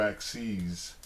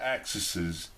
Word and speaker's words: axes: than one axis then we would say two axes we actually not axes not axises don't go to your math